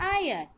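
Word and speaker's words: heir: Just like this देयर इज one more word आयर। एच is silent इसलिए हम लोग इसको कहते हैं आयर।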